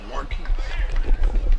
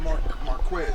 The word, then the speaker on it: Marquise: It's Marquise. Marquise, not Marquez. Marquise. Y'all been saying that over and over again. So make sure you say Marquise.